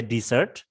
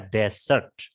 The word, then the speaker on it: desert: kue-kue seperti itu ya kalau desert yang esnya satu itu artinya gurun pasir beda jauh harganya ya esnya dikurangi satu cara bacanya beda artinya beda jauh Jangan dibaca dessert kalau yang apa gurun pasir dibaca desert dan esnya cuman satu Bona dibaca next sentence